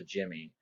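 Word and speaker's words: dhimmi: referred to as jimmies this is pronounced a Jimmy so Jimmy's would be Christians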